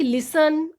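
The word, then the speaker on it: listen: लाइक लिसन, often, इस सब में आप देख रहे हैं कि T के बाद EN आ रहा है तो T को नहीं बोलेंगे, सीधा ही बोलेंगे लिसन या फिर ऑफन।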